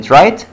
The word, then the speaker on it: right: الجي والاتش في كلمة right دول silent letters right.